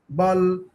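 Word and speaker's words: Ball: তা বি দিয়ে আমরা কটা লিখলাম, বল, বলেন তো কি, কি কি লিখছি বি দিয়া, বল শব্দগুলো বলেন তো, বল, মানে এটা কি উচ্চারণ বল হবে বাল, বাল, বুঝছেন, বি এ ডাবল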